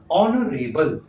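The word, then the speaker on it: honorable: इसके आगे जो है सम्मानीय, ऑनरेबल, एच साइलेंट है, यहाँ पे शुरुआत अ से हो रही है मतलब अ आ रहा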